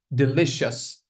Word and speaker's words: delicious: Delicious. Okay. So the stress lies on the second syllable over here.